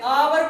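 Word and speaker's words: hour: इसको हम है से नहीं पढ़ते, इसको आ से पढ़ते हैं, आवर पढ़ते हैं, आवर। तो आवर का अगर हमने एच नहीं पढ़ा तो एच के बाद वाला शब्द आवर से पढ़ा है, तो एच साइलेंट हो गया।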